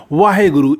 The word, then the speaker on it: वाहेगुरु: तो ये वाहिगुरु हम लोग इसको उच्चारण करते हैं।